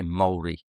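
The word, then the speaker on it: Māori: I should say Maori cuz that's the correct way to say it, Maori family.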